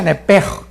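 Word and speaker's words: נפש: La palabra alma es nepesh, en el hebreo, apúntalo, nepesh. Se pronuncia nepej, porque la CH en hebreo es j, nepej, y la palabra espíritu es ruach, se escribe ruach.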